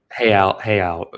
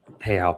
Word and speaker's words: real: Hayao is the currency. Hayao pegged it's spelled real.